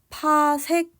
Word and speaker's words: pc: 그래서 연주 시차가 1초까지인 별까지의 거리를 바로 1 PC라고 썼는데 얘는 파색이라고 읽게 됩니다.